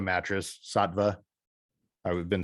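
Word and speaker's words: Saatva: The Satva mattress, Satva, I've been saying it wrong the whole time.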